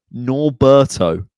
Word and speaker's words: Norberto: Norberto. 3 syllables.